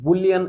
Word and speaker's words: Boole: বুল তার নাম কি জর্জ বুল অনেকে জর্জ বুলই বলে ঠিক না ওর ইংলিশ বানানটা হচ্ছে দেখো জর্জ বুলি এটা হচ্ছে একেকজন